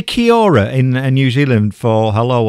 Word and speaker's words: kia ora: Well, that is correct, and it's kia ora is how it's pronounced.